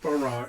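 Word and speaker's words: בָּרָא: It's pronounced bara, it means he created, not she created or they created, he created.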